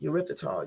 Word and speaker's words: erythritol: to do it pronounce this word right here ER y t h r i t o l let's see how you pronounce this let's see y'all okay let me